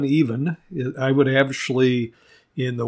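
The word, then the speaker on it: Ifan: name would be kevin even i-f-a-n is how they spell it and then kevin is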